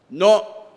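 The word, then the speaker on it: know: இது நடைமுறை சாத்தியமில்லை ஆங்கிலத்தில் கே என் ஓ டபள்யூ என்ன சொல்லுவோம் நோ என் ஓ எப்படி அழைப்போம் நோ அதனால அங்க ஒலி மாறுபாடு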